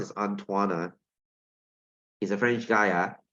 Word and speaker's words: Antoine: the way by the way this thing is pronounced as antoana he's a french guy yeah okay so uh